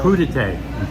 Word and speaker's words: crudité: Crudité.